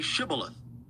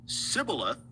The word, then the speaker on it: Shibboleth: If he replied, "No," they said, "All right, say Shibboleth." If he said Sibboleth, because he could not pronounce the word correctly, they seized him and killed him at the fords of the Jordan.